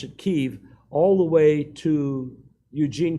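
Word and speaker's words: Kyiv: through Kiev that's how they pronounce it Russians pronounce it Kiev but ukrainians pronounce it Kiev all the way to Eugene casachenko city of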